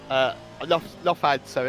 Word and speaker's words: Lufthansa: Lufthansa, isn't it? That's how you pronounce it.